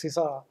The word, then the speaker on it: Csiszar: In case people are interested, there's a scholar at Harvard, Alex Cesar, which is spelled C-S-I-S-Z-A-R, who's been working on the history of things like peer review systems in the sciences.